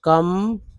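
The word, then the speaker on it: calm: बोलते हैं तो पुलिस एल एम को मा बोलते हैं य एल जो है साइलेंट है तो काम ठीक है डीजी को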